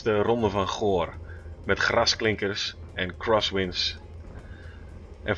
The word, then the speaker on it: Ronde van Goor: Yeah, it's the Ronde van Goor.